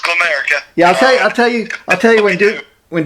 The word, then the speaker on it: Glamerica: And, you know, it gets mispronounced all the time. We always get Glam America, but it's just Glamerica.